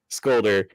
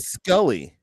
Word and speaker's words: Scully: It's Mully and Scolder." And it realized Mulder and Scully.